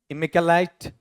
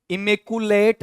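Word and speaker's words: immaculate: अगले पे आओ, क्या दिया है, इमेक्युलेट, इसका उच्चारण करना, इमेकुलेट ऐसा नहीं, इमे कै आधा ये के साथ ए ले ईट, इमेक्युलेट।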